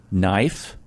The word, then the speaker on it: knife: Knife, K is silent.